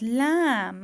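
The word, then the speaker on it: lamb: one is summer the third one is lam okay b is silent okay so the third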